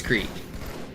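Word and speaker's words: Crete: Are you the one who made fun of me for pronouncing crate in my YouTube comment?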